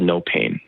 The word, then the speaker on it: NoPane: Uh, so on our website, our our company is called No Pain, but it's spelled like propane.